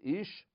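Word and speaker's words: אִישׁ: different pronunciation and so the man is Ish and the female is ISA now people say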